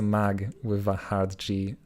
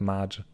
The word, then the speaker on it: Magnogen: call me mag okay assume that it's a mag with a hard g and not maj yeah okay nice to